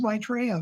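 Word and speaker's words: Maitreya: Yeah Rob can you pronounced his name right. It is Maitraa.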